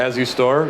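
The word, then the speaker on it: Asustor: The next day, last week, I got that new .naz installed, the As You Store. At least that's how I pronounce it as You Store. I've heard all kinds of pronunciations.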